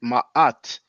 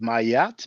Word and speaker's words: Maat: So that's why I always tell people, don't pronounce it, please don't pronounce it mayat, because there's no y, and try to pronounce it ma'at or ma'at, but try not to say mat, you know.